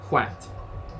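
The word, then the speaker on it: hwæt: But again, as I said, originally it was in Anglo-Saxon. It's spelled HW-T, Hwat.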